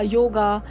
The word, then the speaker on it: योग: मैं उदाहरण लेता हूं योगा का योगा से इस बात को समझाता हूं कि योगा शब्द नहीं है हम शब्द है योग आप इसकी स्पेलिंग पर